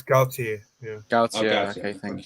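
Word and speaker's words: Galtier: It's Gaultier.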